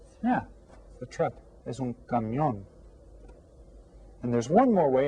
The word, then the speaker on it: camión: Camión. And you see, here's the accented syllable, camión. So get that written down.